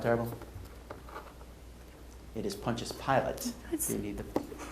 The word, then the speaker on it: Pontius Pilate: for washing his hands after a particularly nasty montana pilots i don't know what's happening i don't know how to say it sorry no sound terrible it is pontius pilate you need the correct i need the pronunciation